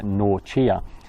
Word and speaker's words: Norcia: saint benedict which was in nausea in italy or pronounced something like norchia so i guess this